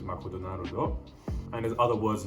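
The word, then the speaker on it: マクドナルド: but it will be written in katakana and pronounced in the japanese way which is makuu naruto and there's other words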